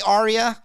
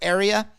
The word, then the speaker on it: aria: use an aria label I say Arya I'm pretty sure it's area uh but they didn't spell it right so I say it Arya because that's how it's